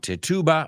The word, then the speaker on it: Tituba: And Tituba, or Tituba, I've heard it pronounced both ways, was a Native American